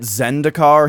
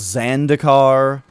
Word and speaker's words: Zendikar: many things incorrectly like the magic set Zendikar he calls zan dakar he was playing Metal